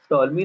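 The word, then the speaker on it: Ptolemy: सो लगभग 2000 साल पहले, ये पी शायद से साइलेंट होगा, टॉलमी नाम के जो साइंटिस्ट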